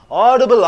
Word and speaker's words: audible: Audible, audible is you have to stress, odd.